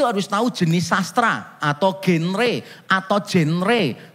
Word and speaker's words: genre: Kita kalau membaca Alkitab itu harus tahu jenis sastra atau genre atau genre. Kalau yang membacanya benar seharusnya jangra gitu. Jadi jangra kalau saudara nanti agak pilek pasti bacanya lebih mudah.